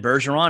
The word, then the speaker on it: Bergeron: And I'm really excited to have on the podcast today is Bergeron. Am I pronouncing that correct, first of all? Yeah, you nailed it.